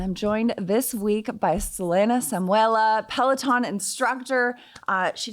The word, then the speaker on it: Selena: for having me and you absolutely nailed the pronunciation of my name I love that I love that you are from Italy and so the actual pronunciation of your name is a little bit more Italian correct yes right so my